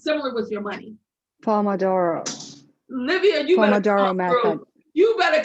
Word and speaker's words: Pomodoro: Pomodoro. Livia, Pomodoro method. You better come through with how to pronounce it. Thank you. It's an Italian name.